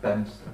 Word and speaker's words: Bedminster: It's probably pronounced Bemster. It is.